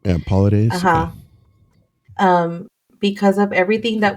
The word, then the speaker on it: Paulides: I think it's like Paulides is how you say it. Yeah, Paulides.